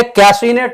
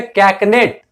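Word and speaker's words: cachinnate: उच्चारण पर ध्यान देंगे साथियों, यह कैसीनेट नहीं है, यह है कैकनेट।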